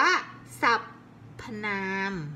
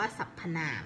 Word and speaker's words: สรรพนาม: ราม เรา ไม่ อ่าน ว่า สับ น้ำ อ่าน แล้ว อ่าน ว่า สัพ พนา ม 5 สรรพนาม มัน อ่าน แล้ว ฟัง ลื่น หู